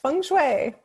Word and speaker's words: Feng Shui: Feng Shui. So, Jillian, come and tell us more about you. Introduce yourself and tell us more about Feng Shui.